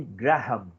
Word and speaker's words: Graham: Mas o correto é método de Graham, tá? Graham, como escreve aqui, você fala, certo?